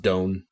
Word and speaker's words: done: will be over and done okay it's pronounced doan i know well i